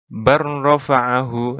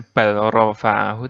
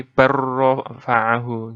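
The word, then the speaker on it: بل رفعه: Tulisannya seperti ini, bacanya barrofa'ahu. Nah, langsung. Jadi bukan balrofa'ahu, tapi barrofa'ahu gitu.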